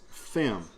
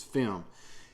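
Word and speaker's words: Phem: And it features Fem. P-H-E-M is, I think, how they pronounce this, is Fem.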